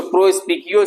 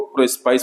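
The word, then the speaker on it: Prospice: सो प्रोस्पिकियो से ये वर्ड आया है, इसलिए प्रोस्पिकी इसका राइट प्रोनाउंसिएशन है। बट बहुत रेयर है कि ज्यादातर लोग इसको प्रोस्पाइस पढ़ते हैं। Okay, so make it clear here, this is प्रोस्पिकी।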